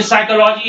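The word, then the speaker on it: psychology: य न्यूमोनिया है ये साइकोलॉजी है पी के बाद एस है आप यहां पर पी को नहीं बोलते हैं ठीक इसी तरह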